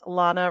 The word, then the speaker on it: Lana: carb attic which is Lana so here we have yes Lana rhymes with Donna perfect thank you so